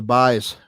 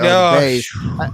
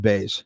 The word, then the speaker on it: Buys: I don't know, but it's pronounced Bays, even though it's spelled Buys.